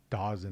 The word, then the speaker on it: Dawson: It's Dawson. I know they want to say Dazon. It's spelled Dawson.